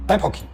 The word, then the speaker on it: Thypoch: 还有后面的应该是 epoxy，所以正确念法应该是 epoxy 啊。